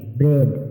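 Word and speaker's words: bread: এই লেটারটি সাইলেন্ট থাকবে বি আর ই এডি ব্রেড মানে রুটি এখানে এর পরে এ লেটারটি সাইলেন্ট থাকবে এইচ ই এ ডি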